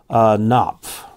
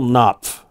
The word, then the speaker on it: Knopf: Today's question comes from Merrill Knopf. I always want to say that Knopf, but usually the K is silent. Merrill Knopf.